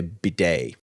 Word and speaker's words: bidet: Yeah, it's like MHL saying you're probably meaning you're trying to say bidet, which is spelled B-I-D-E-T.